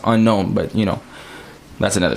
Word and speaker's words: Ennonxo: x o period and it's pronounced unknown but you know that's